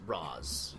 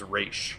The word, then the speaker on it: Ra's: In the Nolan Batman verse, they Yes. pronounce it Roz. In Roz. Arrow, they pronounce it Roz. In the In cartoon, Batman the Animated Series, it was Raish. as well as here, is Raish.